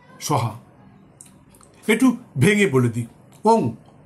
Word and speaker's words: ওং: একটু ভেঙে বলে দিই ওং ও এন জি ওং অনেকে ও এম বলে ভুল উচ্চারণ বলবেন না ওং হুং এইচ ইউ এন